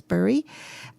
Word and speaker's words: Bury: So Donna Jansen, which is Jansen, and it's the Bury Road Girls, which is Bury, so Bury, or we would pronounce it Berry, but it's Bury.